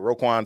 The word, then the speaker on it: Roquan: So we got Roquan. That's how you say it, Roquan Smith.